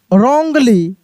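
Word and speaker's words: wrongly: यहां पे देखिए डब्ल्यू आर ओ एन जी एल वाई रोंगली क्या पढ़ेंगे?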